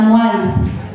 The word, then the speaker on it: moelle: Si nous avions mis un tréma sur le E, il aurait fallu prononcer la mot L. Mais le français dit la moelle, pas de tréma.